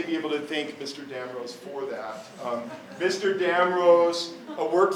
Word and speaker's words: Damrose: And then we get to this building here by Arthurs Damrose, and it's spelled D-A-M-R-O-S-E, or the original spelling is D-A-M-R-O-Z-E.